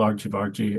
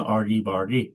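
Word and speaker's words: Argy Bargy: And I love uh some people not being able to pronounce it, calling it Argy Bari. Yeah, I've even I've even heard some um Americans calling it our guy bar guy.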